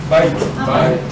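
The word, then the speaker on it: בית: Se pronuncia bit, bet, Así como está. Beit. Ahí está la pronunciación.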